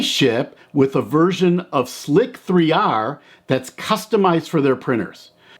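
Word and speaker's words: Slic3r: Another popular slicer is Slic 3R. And some people just pronounce it as slicer, but it's SLIC 3R.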